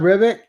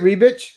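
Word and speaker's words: Ribić: In Slavic, Ribic. Ribic? Okay. Ribic. I think that's how we would pronounce it. I guess Germans, Ribic.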